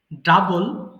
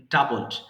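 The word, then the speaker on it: double: ডাবল, ডাবলড, ডাবলড। মানে এটাকে অনেক সময় ভুল করে আমরা ডবল বলি, হ্যাঁ? ডবলটা হচ্ছে বাংলা, মানে বাংলা ওয়ার্ড উচ্চারণ মতো হয়ে গেছে, সেটাকে ডাবল বলবো, হ্যাঁ? সঠিক উচ্চারণ হচ্ছে ডাবল।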